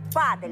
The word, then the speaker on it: падель: Мне говорили падель, но ударение на «а».